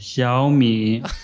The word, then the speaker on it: Xiaomi: Xiaomi.